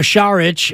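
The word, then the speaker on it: Šarić: he's not a veteran minimum guy but Dario charich as we uh now know is the correct pronunciation is uh that's a guy who might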